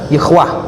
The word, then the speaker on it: Yahweh: Ini dibaca Yehwah. Yehwah itu nama Allah menurut Yahudi. Jadi 4 huruf suci, YHWH. Kalau kita 4 huruf suci juga, alif lam lam ha, dibaca Allah. Ini YHWH dibaca Yehwah.